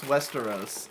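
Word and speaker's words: Västerås: pretty recent fan of yours from uh from Westeros in Sweden uh is it really called Westeros it says it's pronounced Westeros as as in the The Game of Thrones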